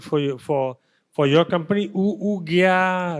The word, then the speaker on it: OoGyaa: For your company, OoGyaa, right? Am I pronouncing right?